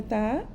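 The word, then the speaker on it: ت: Now how do we say the letter ta?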